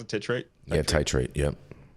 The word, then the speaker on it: titrate: self uh titr trate is that how you pronounce it tirate titrate yep titrate uh their dosage mirroring commercially available THC uh